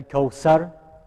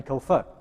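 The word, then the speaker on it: الكوثر: Inna a'atayna kal kawsar, that's not correct, right? It's kal kawfar.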